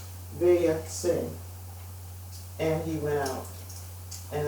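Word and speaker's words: ויצא: The Parashat for next week is, it's, let me make sure I pronounce this correctly. Vayatse, and he went out.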